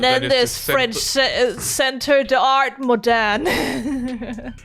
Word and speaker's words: Moderne: And then there's French Centre d'Art Moderne. Moderne? Moderne in the French. Moderne? You barely pronounce the E's in French unless there's something in front of it.